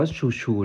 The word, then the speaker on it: XOUXOU: นี้ มัน คือ อะไร มัน อ่าน ว่า ชัวร์ ๆ นะ ครับ แดง ช่วย